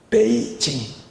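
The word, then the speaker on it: 北京: 북경을 발음을 뭐라고 합니까? 베이징. 경이 징이고 북이 베이예요.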